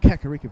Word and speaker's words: Kakariko: No, Kakariko Village.